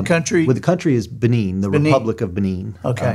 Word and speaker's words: Benin: How do you pronounce that? Is it the country? Well, the country is Benin, the Republic of Benin.